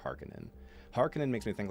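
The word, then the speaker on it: Harkonnen: think to be fair I think I pronounce it that way because I just think it sounds cooler I just like harkonin over harkinen hearken makes me think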